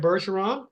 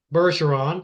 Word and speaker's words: Bergeron: name my last name berson so it's F berson the number two okay just a second now people don't know your French and they don't know that's a soft G so spell your last